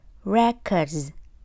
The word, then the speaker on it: records: Âm cuối Z. Records, records.